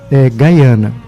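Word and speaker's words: Guyana: Tira o I e acrescenta o Y, Gaiana.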